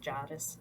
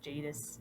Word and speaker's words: Jadis: witch I think you're her name is pronounced Jarvis Jadis Jadis that I find intriguing